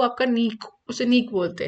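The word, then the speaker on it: niche: इसकी प्रोनाउंसिएशन बहुत अलग-अलग तरीके से होती है। सो नीक होता है। इसे नीक बोलते हैं।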